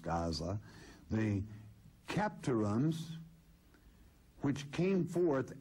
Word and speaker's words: Gaza: in Hazirim, even unto Aza, which is Gaza today, the name should be pronounced almost Gaza, the Capturims, which came